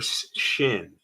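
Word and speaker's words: שׁ: sin or the letter Shin if this dot is on the right you pronounce this letter sh Shin if it's on the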